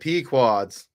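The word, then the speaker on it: Pequod's: How would you How would you Is it Podes or Pquads? I don't know how you would pronounce that. Pquads. Pquads. Pquads. He said pequads.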